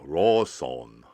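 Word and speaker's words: ローソン: no r in japanese there's no r or l lawson no it's a raw song so there's two things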